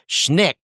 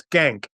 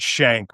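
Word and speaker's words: Schenck: k but skank it's it's Russian and their descendants pronounce it shank which is a little easier on the ear yeah but I think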